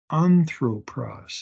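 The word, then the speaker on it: ἄνθρωπος: the emphasis SK tent notice the smooth breathing anthropos it's not hros there's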